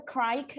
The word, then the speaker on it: craic: Yeah, and that's what you'll be like, what's the craic? And I'm like, no, it's not spelled like that. You're like asking what the crack is, and I'm like, do you want some drugs? Like, what are you asking? Because I'll spell it CRACK, but I think this is so.